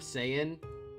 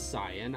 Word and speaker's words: Saiyan: fandom of it i prefer the pronunciation cyan i prefer that but just you know just out of simplicity's sake i still say i know it's cyan i know that's the proper way to pronounce it so uh it didn't